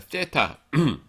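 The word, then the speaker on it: theta: 아 , 이것 이 바로 TH 발음 을 나타내는군 요 . TH. 그래서 한글 로 쓰지 않은 거 예요 . 어 , 한글 에는 그 에 상응 하는 발음 이 없습니다 .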